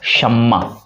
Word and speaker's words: शम्मा: हालांकि हिंदी में ये मैं बताया कि आखिरी उच्चारण नहीं होगा, तो ये सीधा सीधा हो जाएगा शम्मा।